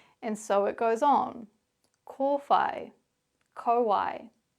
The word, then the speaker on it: kōwhai: Well, what you can see or hear in these examples is both the Māori pronunciation, pūkeko, manuka, kōwhai, pōhutukawa, tarakihi, and the anglicised version, pūkeko, manuka, kowai, pahurakawa, teraki.